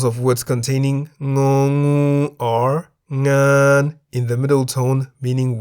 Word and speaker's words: งาน: Example of a word containing ng is ngan, meaning work in the middle tone. Why the middle tone?